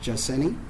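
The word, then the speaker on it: Jaceny: is in edward n is in nancy y pronounced jacini her middle name is berenice that's b is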